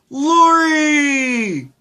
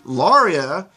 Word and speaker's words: Lauria: the first time the lorry which is all well and good except that I didn't go by that name yet I was still the Lauria which is how you actually say my name and he just completely